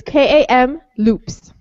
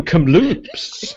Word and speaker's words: Kamloops: It's K-A-M loops. Kamloops. Okay. This is going to be hard. Nobody's going to have a story next week. No. No stories. Oh, you mean Kamloops.